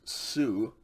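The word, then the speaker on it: σου: exact same way okay sigma omicron upsilon is also pronounced sue okay the only difference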